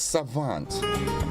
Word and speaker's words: savant: it's a Frenchy wood yeah the way it's pronounced it has a romantic tone to it it's Savant yes Savant s-a-v-a-n-t it's a noun and Savant